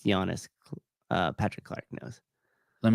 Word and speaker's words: Giannis: spis ganis gianis yeah it's pronounced Giannis uh Patrick Clark knows